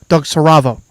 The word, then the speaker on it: Siravo: Season 7 of Siravo.